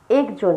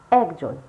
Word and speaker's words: একজন: যেমন একজন নয়, একজন। যখন লিখছি এ ক বর্গীয় জ ন, কিন্তু যখন বলছি অজফলা আকার ক বর্গীয় জ ন, একজন।